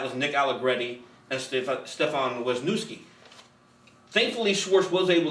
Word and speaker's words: Stefan: Nick Allegretti had two two offensive snaps before today, and and uh Stef- do you pronounce it Stefan? Yeah, he goes Stefan.